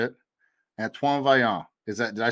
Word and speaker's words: Antoine Vaillant: Antoine Vaillant.